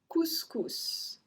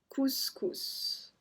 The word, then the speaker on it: couscous: Couscous. Couscous. It's a dish. If you don't know what is it, just Google it. Couscous. So we pronounce the S as well on this one.